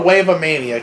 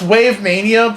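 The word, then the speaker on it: WaveMania: Is it Wave Mania or Wave-A-Mania? Because it sounds like Wave-A-Mania. It's Wave Mania, but it's just like a mess to read.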